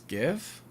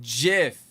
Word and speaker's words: GIF: He patented it as GIF. It's pronounced GIF because the G stands for graphics.